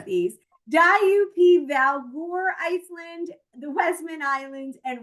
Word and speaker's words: Djúpivogur: I know, and believe it or not, this is how you pronounce these. Djúpivogur, Iceland, the Westman Islands, and Reykjavik.